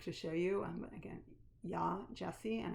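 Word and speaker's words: Yaa Gyasi: have a book to show you and again yah jessie and it's spelled first name y-a-a and the last name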